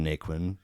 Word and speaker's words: Naquin: And Nikquin, did I pronounce it right?